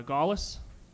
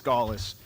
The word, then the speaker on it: Galis: Next up, we have uh uh Galas. Gallas. Sorry if I said your name wrong. That's okay. It's it's Galis.